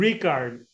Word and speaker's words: Rikard: but and Ricard, yeah, Oh, you said it Rick.